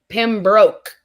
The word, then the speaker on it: Pembroke: Pembroke. Like you broke.